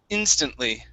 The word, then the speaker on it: instantly: okay this is instantly so the stress is at the very beginning instant instantly instantly instantly okay very